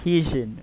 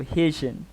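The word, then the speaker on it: Hyejin: that it's actually pronounced haitian or something like that uh the y is silent so haitian okay bumps into the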